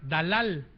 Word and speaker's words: Dalal: Entonces, la palabra Dalila viene de la palabra Dalal, con acento en la segunda A, que significa abatir, afligir, agotar y empobrecer.